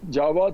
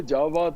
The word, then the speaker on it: Jawad: कहती हैं कि जब जावाद साहब, वो मुझे जावाद कहते हैं, जी, जवाद जो हिंदी का अपना एक प्रोनाउंस, कहती जावाद साहब जी।